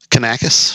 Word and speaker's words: Kanakos: Kanaka how do you say your last name can a kiss can a kiss and a dill how do